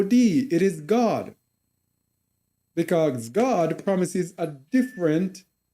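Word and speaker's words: Gad: that number now that troop here is God g a d pronounced God who is Fortune the god of Fortune so our people will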